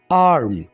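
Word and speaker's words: arm: English में आम कहेंगे इस वर्ड में भी आपने आर को ज्यादा वाज तौर पर प्रोनाउंस नहीं करना आप कहेंगे आर्म एक दफा फिर रिपीट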